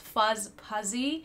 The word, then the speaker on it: Fuzhpuzy: thinking if you're new the username is pronounced fuzz puzzy first half of it